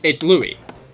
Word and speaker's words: Louis: Like the French version where like it's spelled Louis. It's Louis. The S is silent, but I always pronounce it as Luis.